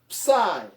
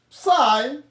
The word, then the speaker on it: psi: Then after k, we have psi. Psi, or ps, just as others may pronounce it. We have psi. It looks like this. The lowercase looks the same. Then psi, as in lapse. Lapse.